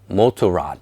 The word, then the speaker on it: Motorrad: In German, it's pronounced BMW Motorrad.